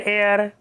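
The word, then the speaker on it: heir: Next, an hour, N एयर, an honest man etcetera. ये एच जो है silent है यहाँ तीनों वर्ड्स में, ये देखिए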